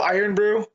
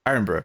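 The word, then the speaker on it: Irn-Bru: the one time also I love how mat pronounced that he really emphasized the word iron bro whereas iron Brew just iron Brew iron iron Brew yeah I say all of our letters yeah but it's not there Ali now have a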